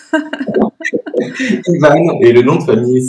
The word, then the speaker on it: Ivan: Bonjour Ivan. Bonjour Sandrine, merci infiniment pour ton invitation, pour ton accueil et tu as très bien prononcé mon prénom, ce qui est déjà rare Ivan et le nom de famille.